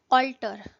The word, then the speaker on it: alter: Next word है ऑल्टर। Last word में हमने स्पेलिंग देखे थे ALTAR, यहाँ पे स्पेलिंग है ALTER। दोनों की प्रोनाउंसिएशन बिल्कुल सेम है।